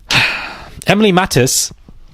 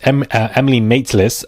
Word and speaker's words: Emily Maitlis: Emily Mattis. I keep calling her Emily Mattis. Her name is pronounced Emily Maitlis, who interviewed, Andrew, that infamous interview, saying that he heard there was a serious meeting.